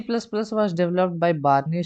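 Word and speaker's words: Bjarne: C plus plus was developed by बार्नी स्ट्रॉस्ट्रप, ये जे silent है यहाँ पर, तो बार्नी स्ट्रॉस्ट्रप एज an extension to द C language.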